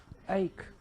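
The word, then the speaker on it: ache: That is, तो देखिए सी एच है और फाइनल का ई का उच्चारण आपको करना ही नहीं, तो क्या बना? दैट इज एक।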